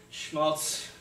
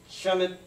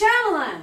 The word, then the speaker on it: Shyamalan: Night Schmaltz. Shyamalan. It's pronounced Shyamalan.